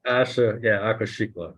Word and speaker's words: Aquashicola: Aquashikla. say it again. Lauren? Aqua, it starts with aqua, so Aqua. like water, Shikla.